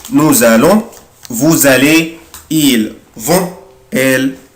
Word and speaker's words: nous allons: أخلي بالي يا حبايبي nous هنا هنطق برضه حرف الاس زد. Nous allons, vous allez, ils vont, elles vont.